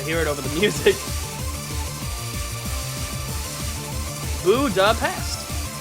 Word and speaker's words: Budapest: Budapest with a hard s sound. While ah here we go. While the original Hungarian pronunciation is budapesh with an sh sound, the English convention retains the s.